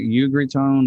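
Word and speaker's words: Ugritone: to be pronounced but it's like you agree tone like u-g-r-i-t-o-n-e and they make a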